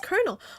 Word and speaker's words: colonel: it's a colonel it's Colonel right it's not colal it's colonel it's pronounced Colonel that's why it works for corn huh okay I just